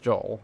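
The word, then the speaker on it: Jaal: Uh, J A L. But yeah, it's pronounced Joel like that.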